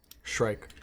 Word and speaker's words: Shrike: Shrike. Shrike. Shrike? Shrike. Spell it.